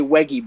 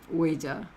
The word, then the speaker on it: Ouija: Like he's right, like he's like, how do you use a Weggy board? Um, and if it's spelled correctly, he says, how do you use an Ouija board? Ouija. And there's actually one comment